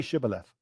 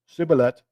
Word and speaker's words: Shibboleth: would say to him say shibboleth and they would say shiblet because they couldn't frame their mouth to pronounce that they couldn't say the sheen they can only say a scene so they would say siber death you gave yourself away